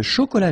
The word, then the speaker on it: chocolat: Chocolat. And then final T not pronounced.